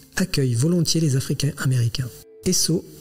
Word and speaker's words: Esso: Esso est la prononciation phonétique des lettres S et O pour Standard Oil, la compagnie pétrolière de John Davison Rockefeller.